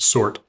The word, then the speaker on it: Surtr: Sortter, that R, you would think would be removed by the same process, but no one ever seems to everybody seems to call him sort instead of sort, but by consistency, we would expect it to be just sort.